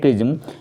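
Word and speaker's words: XRISM: क्रिज्म उपग्रह mission XRISA, इसे pronounce करते हैं क्रिज्म, का प्राथमिक उद्देश्य क्या है?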